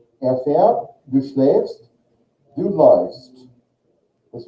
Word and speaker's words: fährt: Fährt. Fährt. And with schlafen, do. The spelling is really, the conjugation is the same. Just the vowel changes. With umlaut A, how do we say that? Schläfst, right? Fährt, du schläfst, du läufst.